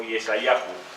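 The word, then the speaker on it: ישעיהו: Se puede, en hebreo se pronuncia Yeshá o Yeshayahu.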